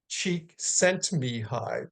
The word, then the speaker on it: Csikszentmihalyi: Now, the pioneering psychologist, Mihai Csikszentmihalyi, that's how you say his name, and he was from Hungarian descent and taught here in the States.